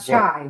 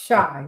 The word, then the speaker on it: Chi: Not shy, it's shy. And if you know the Chicago style stepping, Chicago is called The Shy.